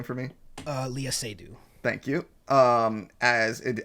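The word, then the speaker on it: Léa Seydoux: del toro um and reminded me trying to pronounce her name uh can you say her name for me uh leah sadie thank you um as in as an artist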